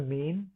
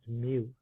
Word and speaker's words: mu: one is with the Greek letter mu pronounced mu right when they when you hear them talk about Mu Alpha Theta that's the math our society that's they're saying me for for uh that symbol right there now there's a